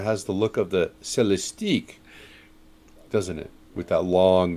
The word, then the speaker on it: Celestiq: a Cadillac dealer and find out the pronunciation is celestic did you did you